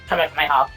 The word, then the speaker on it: Kamehameha: They also have him pronounce it Kamehameha.